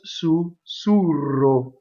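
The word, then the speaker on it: sussurro: closed Oh sous-sous row so again you can say when you speak Sousou row and it sounds like right whisper so sue row right but when you sing you have to notice that as sue sue row right el cor so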